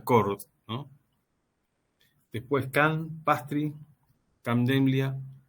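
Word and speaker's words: Chord: Donde por ahí el más conocido, el que más se popularizó es el primero que aparece en esta lista, que se pronuncia Cord, ¿no?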